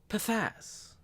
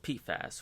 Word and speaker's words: PFAS: a chemical known as pathaz what my cameraman tony just informed me that it's actually pronounced pfas which is not nearly